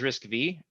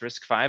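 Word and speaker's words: RISC-V: is risk five um when you read it it says risk V but it's actually pronounced risk five it's the fifth iteration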